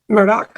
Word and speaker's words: Murdaugh: them are pronouncing it most of the local folks are pronouncing it in a way that's closer to the way he says it Murdoch with the c at